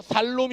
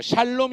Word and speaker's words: 샬롬: 따라합시다 샬롬이 오셨네 어 발음 잘해야 돼요 살롬이 오셨네 하지 말고 샬롬이 오셨네 해야 됩니다 한번 더 샬롬이 오셨네